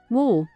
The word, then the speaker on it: 我: attention to its pronunciation it's kind of like saying war with a British accent woo but using the third tone of Mand in Chinese W woo W if